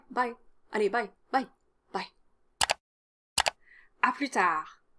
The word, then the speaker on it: à plus tard: Don't pronounce any of the final consonants, so à plus tard, à plus tard.